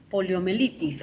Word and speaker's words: poliomielitis: Poliomielitis. Aquí la palabra, si revisamos y buscamos aquí, en esta sílaba debe haber un diptongo.